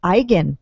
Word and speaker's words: Igan: for addressing the Egan thing now I noticed you pronounced his last name Igan have we all been saying Egan incorrectly I I say Egan